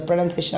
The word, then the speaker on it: pronunciation: But when you use it as a noun, the spelling changes, the pronunciation of the word changes. See the next word. P-R-O-N-U-N-C-I-A-T-I-O-N. So it should be pronounced as pronunciation.